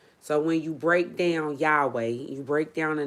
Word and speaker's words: Yahweh: But a lot of people pronounce these four letters YHWH as Yahweh.